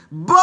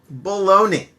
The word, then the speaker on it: baloney: can say the word bologna i tricked you didn't i bologna b-a-l-o-n-e-y it's a kind of meat sometimes it's spelled different we won't go into